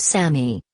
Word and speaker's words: SAMe: medications and chemotherapy drugs same pronounced Sammy this dietary supplement is